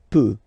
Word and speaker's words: peut: Then il, elle peut. So you will put T at the end, you don't pronounce it. Il peut, elle peut. Okay, so if you look carefully, you've got peut here, you've got peut here, and you've got peu here.